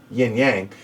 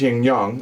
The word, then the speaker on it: Yin Yang: game young young was if you're an americanized yin yang but it's young young I tried to do